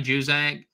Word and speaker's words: Juzang: Johnny Juzang. Is apparently the pronunciation.